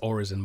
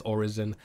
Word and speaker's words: Orison: So it is pronounced Orison, by the way. That's how you pronounce it. I don't know what the official Star Citizen pronunciation is, but it is Orison. It's just another word for prayer, which I think Pedro